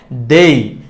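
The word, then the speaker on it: they: দিতে পারি দে দে দে একটু দে আমাকে দে না দে হবে না হবে না হবে না এটার সঠিক উচ্চারণটা হচ্ছে দেই দে হচ্ছে ভুল উচ্চারণ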